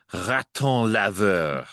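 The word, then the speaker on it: raton laveur: But the word that you are asking me to pronounce the term actually it's two words. It's raton lever. Oh, very good. I'm so glad I didn't try to pronounce that. I would have said raton lever and that means washing rat, right?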